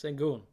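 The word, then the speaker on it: Şengün: Segun. Okay, thank you. I hate mispronouncing names, but I don't watch TV, so I don't really hear announcers say guys' names.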